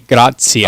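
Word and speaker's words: gratia: it forms the words so when you have uh the ati together it's otsiya okay tea is kind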